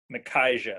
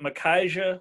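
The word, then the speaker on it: Micajah: how to pronounce it m-i-c-a-j-a-h i think it's makaija if i'm not mistaken thank god his nickname is big so that makes my life a little bit easier but makaija will say big harp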